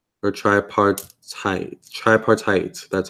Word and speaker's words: tripartite: Or tripartite.